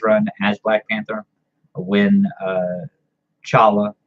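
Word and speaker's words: T'Challa: comic number 19 where he actually says that the T is very silent or the T is not is not pronounce it just doesn't pronounce so chala just like his father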